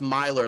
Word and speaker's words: Myler: m-y-l-e but i mean it's pronounced milor like running like miles yeah okay that seems